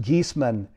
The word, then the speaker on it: Giesemann: formally introduce her geesman and it's pronounced geeseman is a highly sought